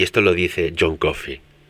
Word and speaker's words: Coffey: esto lo dice John Coffey, que a veces se pronuncia como el café, pero se escribe diferente.